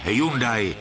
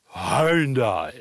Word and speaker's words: Hyundai: vůz první h i40 celé dlouhé roky to byl v Čechách a na Moravě Hyundai a teď to máme vyslovovat korejsky Hundai učíme je snad My